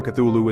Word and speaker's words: Cthulhu: It should be noted that Lovecraft originally intended the name to be pronounced closer to Blue Loop because it originates in an alien language that can't be properly spoken by humans. However, the easier form Cthulhu is more prevalent.